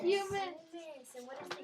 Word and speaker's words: humus: What's the funny word that we learned about today that some people were pronouncing it hummus? Humans. Humus.